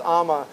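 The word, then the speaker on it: Amager: awesome beers as well so if you see Amma beers it's actually it's spelled a m a g r but pronounced Amma check them out as well without show nothing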